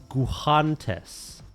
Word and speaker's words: guantes: This This says to pronounce it Guantes.